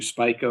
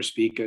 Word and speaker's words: Spica: going to come to to spica or spika depending on who you're talking to they have different ways of pronouncing that so um as i